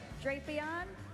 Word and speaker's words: Drapion: How do you pronounce this Pokemon's name? Drapion.